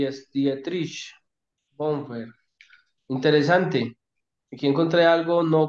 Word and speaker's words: Bonhoeffer: mirando el libro de, no sé cómo se pronuncia, el de Bonfert, es que se pronuncia ese, el autor, el pastor Ah, alemán, Dietrich Bonhoeffer. Bonhoeffer, claro.